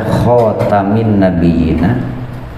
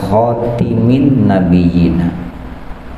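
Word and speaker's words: خاتم النبيين: Bacanya bisa dibaca khatamin nabiyyina, bisa dibaca juga khatimin nabiyyina bi fathit ta'i wa kasriha. Bacanya itu boleh dengan dipatahkan taknya atau dikasrohkan taknya. Berarti kalau patah khatamin nabiyyina, atau dibaca kasroh khatimin nabiyyina.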